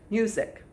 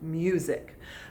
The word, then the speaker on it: music: in the middle sick music the s sounds a little more like a z though doesn't it music now let's look at